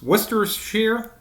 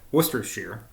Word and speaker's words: Worcestershire: bridge and versus worst worcestershire have i been pronouncing that wrong i think i have worcestershire of which mr wentworth